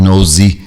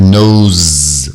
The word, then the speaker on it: nose: Não é nose, é nose, o E final não pronunciado.